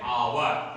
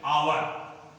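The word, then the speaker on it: hour: यच, इसको हम हावर नहीं पढ़ते, इसको हम हॉनरेबल नहीं पढ़ते हैं, इसको हम हॉनेस्टी नहीं पढ़ते हैं, इसको पढ़ते हैं आवर। इसका उच्चारण है आवर, आवर। इसका उच्चारण क्या है? Honourable, honourable. और इसका उच्चारण है ऑनेस्टी।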